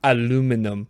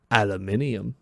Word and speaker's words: aluminium: Aluminum or as our friends across the pond say, aluminium.